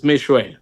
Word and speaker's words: Meshoe: Did I get your name wrong, sir? Meshoe, sir, you got it right. It's Meshoe.